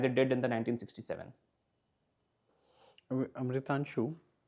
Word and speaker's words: Amritanshu: Amritanshu, I'm pronouncing your name right, no? Yes, sir. Amritanshu. Yes, sir.